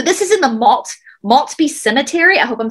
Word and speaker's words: Maltby: is in the malt maltspeak cemetery i hope i'm saying that right in washington state this is spelled m-a-l-t-b-y maltby cemetery now this cemetery